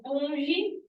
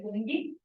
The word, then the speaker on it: fungi: Reino fungi, ou fungi, na verdade a pronúncia é fungi, que é dos fungos, né, tanto dos microscópicos quanto dos cogumelos.